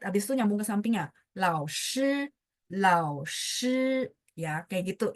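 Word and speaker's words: 老师: Nah, lao ini nada 3. Karena di belakangnya ada huruf lain, jadi dia bacanya nggak full. Kalau full tadi contoh hao, sampai sempat naik gitu kan ya. Tapi kalau lao shi enggak, dia langsung nyambung ke samping.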